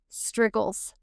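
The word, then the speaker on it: strigils: They actually scraped the oil and the dirt off their skin using struggles. Like wiggles, but it's spelled s t r i g i ls.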